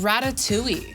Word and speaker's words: ratatouille: And ratatouille. I mean, come on, it rhymes with pewy.